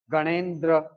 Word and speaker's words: गणेन्द्र: उच्चारण ऐसे ही होगा, गणेन्द्र। द आधा, र पूरा।